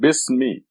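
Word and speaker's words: بسم: The second letter is sin, and we're going to put a sukun on it to make it bis. So these 2 letters, B and the sin with a sukun, makes it bis. The third letter is ma, mim, and we'll put a kasra under it, make it bismi.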